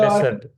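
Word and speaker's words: desert: இப்ப பாருங்க இது இப்படி இந்த வார்த்தையை டெசர்ட் அப்படின்னு உச்சரிக்கலாம் இதுக்கு வேற மீனிங் இதுல பார்த்தா ஹோமோகிராப்னு சொல்லுவோம் இல்லைங்களா ரெண்டும் ஒரே வார்த்தையா இருக்கும் சோ ஒரே மாதிரி இருக்கும் வேற உச்சரிப்பு டிசர்ட் இத எப்படி உச்சரிக்கிறோமோ அதே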